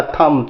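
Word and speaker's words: thumb: नहीं होगा, डम डम, थंब नहीं होगा, थम थम।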